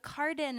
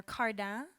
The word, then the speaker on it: Cardin: be pronounced well so I say it the French way I say k but you can say but Carden is perfectly F fine or cardan that's like the English French way you know but Carden